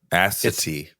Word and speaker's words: Assateague: Assateague. Assateague. It's spelled ASSATEAGUE.